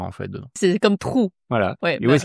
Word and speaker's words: 土: T-U, troisième ton. Je pense que c'est pas très difficile pour les Français, la prononciation. Ici, c'est de ne pas lire tu. Ouais, c'est ça. Trou. C'est tu avec ton et trou. Un peu comme un trou, avec un R légèrement moins fort.